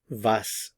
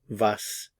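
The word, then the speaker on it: was: van when vum why vas what notice the pronunciation of the W in all of these three van vas in this lesson we are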